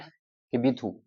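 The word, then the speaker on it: Kibithu: eastern most point of India Bharat का eastern most point Bharat का eastern most point किबीथू के आई बी आई टी एच यू ये याद रखना किबीथू फिर से स्पेलिंग सुन लो के आई बी आई टी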